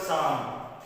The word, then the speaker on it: psalm: Psalms, see the word Psalm, okay, and repeating this word psalm. P is silent and L is also silent here.